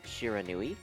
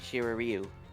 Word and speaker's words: Shiranui: them this example is shiranui I wrote it out syllable by syllable and he kept continuing to call it Shira Ryu yep I think I